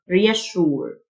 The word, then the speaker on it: reassure: lack lack يطمئن reassure الاس اس يو تنطق شه reassure assure assure comfort comfort